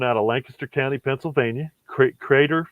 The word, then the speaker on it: Kreider: And again, these are coming out of Lancaster County, Pennsylvania, Crater Farms, Crater. And so, and it's, I'll try to put this online if I can, but it's spelled Kreider.